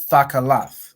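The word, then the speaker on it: תכלת: Thakalath, right?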